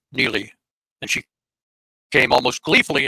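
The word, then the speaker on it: Niile: Canadian girl with the name n n i i l e She pronounced it Neely and she came almost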